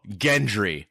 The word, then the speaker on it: Gendry: So first of all, Gendry, hard G.